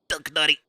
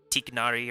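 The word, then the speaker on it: Tighnari: Technically, it's Duck Nutty. So I have a couple of nicknames for this guy because of the internet cops. So the Arabic pronunciation is very close. It's like Duck Nutty or something like that.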